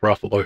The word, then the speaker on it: Ruffalo: Ruffalo. Yes. Yeah. Ruffalo, Buffalo.